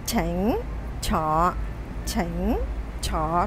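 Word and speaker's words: 請坐: Không đọc xỉnh, không đọc tỉnh, không đọc thỉnh mà là chỉnh. Tương tự, không đọc sọ, không đọc tọ, không đọc thọ mà là chọ.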